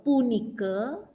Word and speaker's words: punika: Punika ya diakhiri A, dibacanya E, punike.